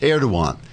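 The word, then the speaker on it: Erdoğan: The Europeans put down the riots, which angered President Erdogan, which is pronounced Erdogan because the G is silent, as in hottest.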